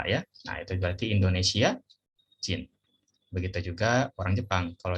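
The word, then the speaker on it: 人: Nah kewarganegaraan itu kalau dalam bahasa Jepang kita tambahkan ini, dibacanya jin ya.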